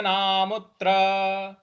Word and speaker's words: नामुत्र: नाम, यहाँ पे जो म है इस पर, जो त्र है इस पर हम थोड़ा सा आघात देंगे। तो पार्थ नैवेह नामुत्र।